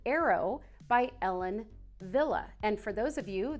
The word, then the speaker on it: Ellen Wille: say, new faves, which is called Arrow by Ellen Wille.